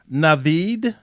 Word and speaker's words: Naveed: And so our next guest is Naveed Hameed.